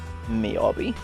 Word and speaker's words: Miyabi: Miyabi.